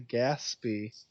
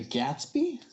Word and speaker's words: Gaspee: reiterate my annoyance at Rhode Island pronunciations. Narragansett. Between Newport and Providence. The English ship was called the Gaspee. The Gatsby?